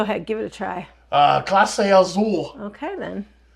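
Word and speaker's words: Clase Azul: Classe Azul. Okay, then. Zool. It has Zool in the name.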